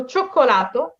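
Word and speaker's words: cioccolato: এখানে কিন্তু খেয়াল করবেন চোক্কোলাতোটা, হ্যাঁ চোক্কোলাতোটা আমি কিভাবে লিখেছি, চি ও ও চি ই ও চো খো, এখানে আমার উচ্চারণ কিন্তু ভিন্ন, চ খো, হ্যাঁ চো খো, একই শব্দ উচ্চারণ দুইটা কিন্তু ভিন্ন, চোক্কোলাতো।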